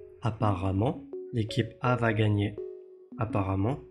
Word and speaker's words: apparemment: 次に紹介する言葉は apparemment という副詞です。